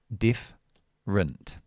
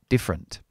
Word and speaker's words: different: I eliminate that schwa. So I have the word diff rent. This is another schwa. Different. Different.